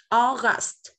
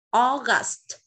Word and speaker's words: August: August. August. Âm kết thúc bằng âm t, thì con phải bật âm t lên nhá.